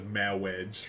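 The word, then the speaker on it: Mawwiage: So it actually says Mawedge, right, with the W's.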